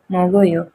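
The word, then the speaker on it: 먹어요: रहा हो, जैसे कि मोगो, तो इसे क्या प्रोनाउंस करेंगे, मो गो यो, मोगोयो, खाया, मोगोयो, खाया।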